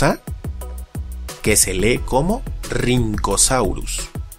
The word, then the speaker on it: Rhynchosaurus: Algo similar le ocurre a la RH, pues recibe una pronunciación con una R marcada, como la doble R del alfabeto escolar de antaño.